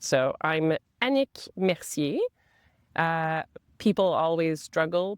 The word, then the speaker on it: Annick: So, I'm Anik Meri. Uh, people always struggle to say my name, especially Englishspeaking uh, people. I like to say Titanic, Panic, Unique.